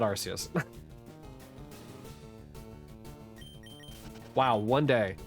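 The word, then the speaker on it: Arceus: So, like I I don't really want to hear too much about the whole thing where it's like it's actually Archus. I'm going to call it Arus.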